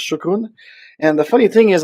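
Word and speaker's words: شكرًا: So shukran. If I pronounce well, please correct me. I try to say thank you in Arabic, Standard Arabic, and I've been learning it from my colleagues. So I think it's shukran.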